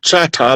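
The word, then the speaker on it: Chahta: the Louisiana, the French pronounce it Chata like it's supposed to be pronounced.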